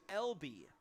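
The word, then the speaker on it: Elbee: is a shark named lb it's e-l-b-e-e is how it's spelled but it's lb just like Long Beach State lb their initials and L B the name of their mascot but spelled phonetically cool little play on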